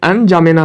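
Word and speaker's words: N'Djamena: Chard का राजधानी एन जामेना है। यहाँ पे द लिखाता है शुरू में, लेकिन प्रोनाउंसिएशन जामेना ही होता है, एन जामेना।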